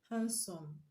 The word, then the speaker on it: handsome: we have option a handsome b mat c banked nd land so which one is the correct answer option a hand some handsome dd enhancement in silence so we don't pronounce it so it's not